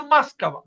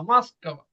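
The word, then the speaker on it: Москва: তো আবার মস্কোভা, তো মাস্কাভা। তো এটার উচ্চারণ কিন্তু কিন্তু আমাদের কি হয়? মাস্কাভা, মাস্কাভা, মাস্কাভা, মস্কোভা না মাস্কাভা।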